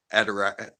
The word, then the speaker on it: Adirondack: They'd be sleeping in the backyard on all our Adirondack chairs. Not pronouncing that right.